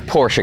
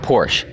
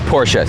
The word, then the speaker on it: Porsche: its Porsche guys not Porsche I hear a lot of people saying Porsche and that really drives me nuts because it's a German company and you pronounce the e it is Porsche so please don't say